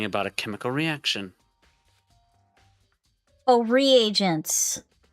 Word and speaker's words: reagents: I should know this but how do you pronounce that the second word regents? I thought the regents put simply they're using experiments to bring about a chemical reaction. Oh, reagents.